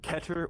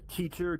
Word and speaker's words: Keter: Euclid is difficult but not impossible, and Keter or Keter, depends on how you want to pronounce it. I pronounce it Keter because that's just how I have since I was a kid, and I'm too stubborn to stop now.